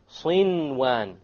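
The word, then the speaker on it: صنوان: Likewise, sinwan. No idgham. There's a noon sakin followed by a waw. Sinwan, sinwan. You pronounce the noon. In this case, the ruling would be idhar. You make it clear.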